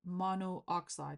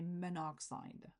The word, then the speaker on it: monoxide: Then you can drop the A or even the O of the prefix, which is a lot easier to pronounce it. So you don't need to say monooxide. You can say monoxide, right?